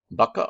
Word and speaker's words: bucca: you otic otrc um bacca or buca i've heard it pronounced both ways uh namely you'll hear